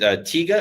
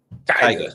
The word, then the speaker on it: Tyga: is it Tiga or Tyga? How do you say the name? Tyga.